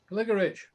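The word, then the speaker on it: Gligorić: This is another short game against, I don't know how to pronounce it, Gligorich, I don't know. Sorry? Gligorich.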